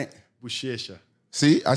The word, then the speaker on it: Buchecha: Buchecha.